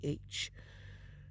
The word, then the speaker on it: Wurzbach: I don't know how to pronounce her last name. It's Wurzbach.